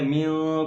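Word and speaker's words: مِن: کر پڑھیں گے استغفر اللہ ربی۔ اگلا لفظ ہجے کے ساتھ پڑھیں گے۔ من کلی، میم نون زیر من، کاف لام پیش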